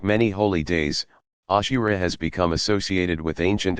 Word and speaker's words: Ashura: Ashura, pronounced Ashura, possibly paralleling the Jewish practice of fasting on the 10th of Tishri, generally known as Yom Kippur.